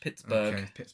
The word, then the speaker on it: Pittsburgh: to Pittsburgh he sedates did I say pit Pittsburgh no you're not pronouncing the H Pittsburgh uh I don't travel